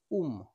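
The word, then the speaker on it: womb: টুম্ব বি এর আগে এম রয়েছে এর সঠিক উচ্চারণ হবে উম বি এর আগে এম রয়েছে এর সঠিক উচ্চারণ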